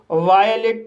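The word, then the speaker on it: violate: और ई साइलेंट रहेगा। इस तरह से इसे वायलेट पढ़ा जाएगा।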